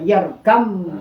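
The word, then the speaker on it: ارْكَبْ مَعَنَا: itu harus berhadapan dan ada juga yang tulisannya yarkab maani yarkab ma tapi dibacanya yarkam ma nah Nah, di situlah harus berhadapan jadi adab terus.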